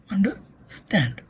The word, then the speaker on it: understand: So, energy is consumed more by stand and then by un and at the end by der. So, the primary stress falls on the stand. Under stand.